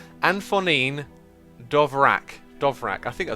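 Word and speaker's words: Antonín Dvořák: So, oh, you can pronounce Anton Dvorak like Anfonin Dovrak.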